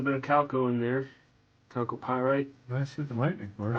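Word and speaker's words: chalcopyrite: Calco pyite. Nice looking lightning. Of course, I heard someone call it choco pyite. That didn't sound right to me, but maybe that's how you say it. No, calco.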